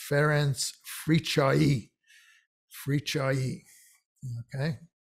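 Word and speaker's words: Fricsay: one this is feren's free choi and this illustrates another double letter cs so the cs is pronounced as cha which is another one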